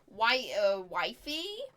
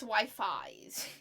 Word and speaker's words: Wi-Fi's: I originally was pronouncing this as wifey, but it's Wi-Fi's. It's Wi-Fi's. I thought it was wifey, not Wi-Fi's, but remember to subscribe to them, although you might already be, who knows.